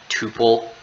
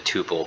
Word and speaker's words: tuple: then this is a tuple so it's a construct of a tuple although it sounds like the word two this is also a